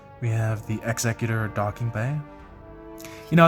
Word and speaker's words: Executor: We have the Executor Docking Bay. You know, as a kid, I always pronounced it Executor because I thought it sounded way cooler, but apparently it is Executor.